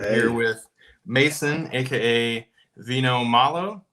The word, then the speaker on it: Vino Malo: here with Mason, aka Vino Malo. Did I say it right? That's it, Vino Malo.